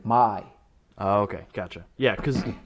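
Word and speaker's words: maai: Yeah, it consists of two words, ma and I together, Mai.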